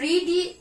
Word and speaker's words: read: তো হবে I will have read, মানে রিডই মানে রিড ভার্বের থার্ড ফর্ম হবে রেড। উচ্চারণ প্রনাউন্সিয়েশনটা হবে রেড, বাট স্পেলিংটা রিডই থাকে, RED রিডই থাকে, তো প্রনাউন্সিয়েশন হবে রেড।